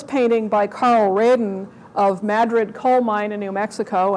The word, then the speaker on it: Madrid: talk about this painting by Carl Raiden of Madrid coal mine in New Mexico. And yes, that's how it's pronounced. You've been to New Mexico, it's Madrid.